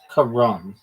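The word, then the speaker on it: carrom: Karam the board game is usually pronounced Karam. Not even like Ram. It's Karam. Sounds like Kam. emphasis on the first s syllable.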